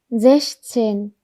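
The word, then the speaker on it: sechzehn: 근데 여기 보니까 A 뒤에 체하 붙었네요. 그럼 여기서 체하는 약하게 발음을 해야 됩니다. 그래서 제시, 제시 여기서 에시, 이시 이것처럼 제시 하시면 됩니다. 그래서 제시첸, 제시첸 하시면 됩니다.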